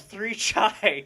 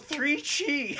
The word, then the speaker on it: Three Chi: our uh our sponsor they're not called three chai It's called three Chi three episodes in WoW